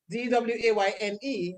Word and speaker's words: Dwain: Dwaine. So that is incorrect. So it's Dwain. That's how Dwain is spelled.